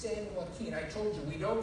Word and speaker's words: San Joaquin: It's pronounced San Jose, the California says. We pronounce the J like an H in California.